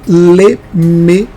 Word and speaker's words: Lemegeton: Só que também no latim antigo, principalmente no latim eclesiástico, ritualístico, era pronunciado como G. Então, não fala mais lemegeton, porque está errado. Se você quer ensinar o certo, ensine de forma correta.